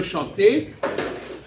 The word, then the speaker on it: chanter: le non bon bon je veux chanter on prononce pas le r mais le problème c'est